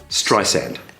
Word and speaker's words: Streisand: Usher then made sure he pronounced the second S in her surname in a softer manner before Streisand sarcastically responded, "That's it.